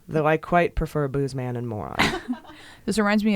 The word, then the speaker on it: Boozman: hip see in the senator Boozman is pronounced Bozeman and is pronounced Moran though I quite prefer a bluesman and Maura this reminds me of my childhood doctor whose name is dr.